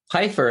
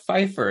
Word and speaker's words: Pfeifer: know why you know our family pronounces it Piper I lived in Germany